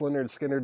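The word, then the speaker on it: Lynyrd Skynyrd: did I just go past it Leonard skinnard pronounced Leonard skinnard it is on MCA it's not songs of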